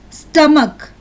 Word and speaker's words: stomach: The CH syllable is pronounced as k, k. Ache, k. Echo, k. Stomach, k.